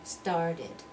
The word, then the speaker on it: started: it and started again we've got two syllables hated toasted and started and I need to